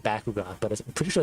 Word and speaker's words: Bakugan: And we're gonna be talking about Bakugan.